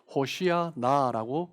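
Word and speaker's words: הושיעה נא: 라고 하고 있는 거죠 히브리어로 정확하게 폴 표현하면 호 쉬야 나라고 어 표현 합 발음할 수 있습니다 나 라는 단어는 지금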